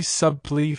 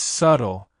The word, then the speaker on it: subtle: like in subtly but in reality that be is silent so it's just subtle Sarah I have a very suly feeling about this Lena wait you're saying the be no it's subtle the be is silent correct pronunciation subtle why does this happen